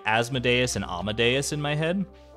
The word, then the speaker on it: Asmodeus: like deus ex machina asmodeus asthma days is closer to the Latin pronunciation ooh asmodeus asmodeus has